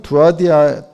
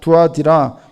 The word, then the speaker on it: 두아디라: 우상을 섬기고 제사하고 그 재물을 먹은 사람이에요.이어서 나오는 교회는 두아디아 두아디라 교회인데 아 발음이 좀 어려워요. 두아디라. 예. 두아디라.